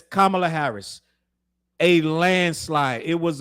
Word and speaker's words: Kamala: believe Remy knew that kamama I'm saying her name wrong it's Kamala Kam it's Kamala right I always say Kam it's kamla Harris a landslide it